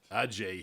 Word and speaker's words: Adjey: The D is silent. Yeah. And you understand we had another Adjey here, yes, right, for a couple of years, a good friend of ours yeah.